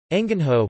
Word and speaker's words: engenho: angin ho Portuguese pronunciation you is a colonial-era of Portuguese term